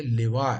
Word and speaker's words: لواء: سابقہ حدیث میں لفظ لوا پڑھا تھا، یہ اس کا تلفظ لوا نہیں ہے، لوا ہے، لام کے نیچے کسرہ یعنی زیر ہے، اس کا معنی ہوتا